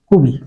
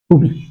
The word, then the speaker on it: কবি: এখানে আমরা লিখতে পারি কবি থেকে ওর সাথে ছিল অ এখন হয়ে যাবে। কবি কবি।